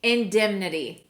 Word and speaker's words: indemnity: Ooh, indemnity.